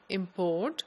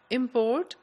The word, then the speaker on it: import: a verb for example the word import when you say import it's a verb and when you put the stress on the first syllable import it's a noun similarly the word content